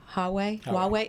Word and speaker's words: Huawei: And we know this is going on with, am I pronouncing it right? Huawei?